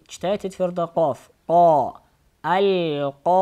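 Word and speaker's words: القارعة: Аль-кариа. Вот тут аль-кариату написано. И эта буква та, при остановке она превращается в га. И читается аль-кариа.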